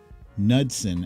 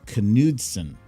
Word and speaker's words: Knudsen: Yeah, and actually, fun fact, his last name is not pronounced Knudsen, as I thought all these years. It's Knudsen.